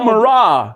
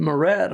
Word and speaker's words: Murrah: he mispronounced our names. Yeah. Stegall Murrah. Stegall Murrah. I thought he said Murat on me.